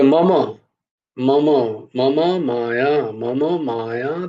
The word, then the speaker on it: মম: मम माया दुरत्यया मम, মম নয়, মম, মা, মা উচ্চারণ হবে, মো নয়, মোমো, মোমোর উচ্চারণ হবে না ওরকম।